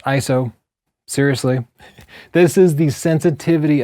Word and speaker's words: ISO: Your ISO, spelled ISO, but pronounced ISO.